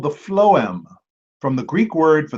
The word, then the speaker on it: phloem: Yeah, the phloem, and I looked up the pronunciation, Allie.